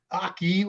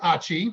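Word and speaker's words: AHCI: so first thing uh while it's not pronounced aki everybody calls it achi so it's aci mode and achi mode is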